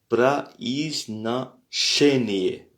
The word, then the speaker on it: произношение: On voit que chez est en lettres majuscules puisque c'est là où se situe l'accent. Donc произношение. Произношение. Et si on décompose ce mot, donc comme la dernière fois on l'a fait, c'est произна, произна, puisque произна, donc il n'y a pas d'accent ici, donc le O se prononce comme un A.